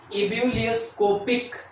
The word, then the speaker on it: ebullioscopic: Ability क्या है, EBULLIOSCOPIC, इब्यूलियोस्कोपिक। ठीक है, अच्छे से प्रोनाउंस करेंगे, इब्यूलियोस्कोपिक कांस्टेंट।